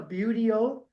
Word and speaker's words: buteo: Obviously, and the way you pronounce that word, that's a buteo.